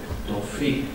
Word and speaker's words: Tawfik: And we start the first presentation with Tawfik from the Tawfik. Do I pronounce it correctly? Tawfik.